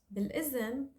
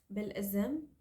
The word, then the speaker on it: بالإذن: We replace it with za. So, بالإذن, it's like saying with permission, or I need your permission to leave.